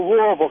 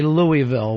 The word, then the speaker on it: Louisville: I will always say Louisville, which uh Oh, that pisses everybody off. Yeah, it really makes them mad. Yeah, it's it feels like it's more Louisville, but it's Louisville. But if you live there, go a little southern live in Louisville.